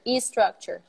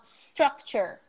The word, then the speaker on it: structure: structure oh this one this one is so so frequently incorrectly pronounced like a structure e structure ah thank you thank you Mia me or Mia I don't know thank you um structure structure below the S